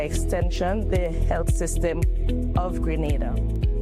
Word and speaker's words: Grenada: So, today, like we German say, we are in Granada, but I heard in English it's called Grenada. Say it right. Grenada. Say it right. Grenada. That's right. Grenada. There we go. Say it right. It's not granada.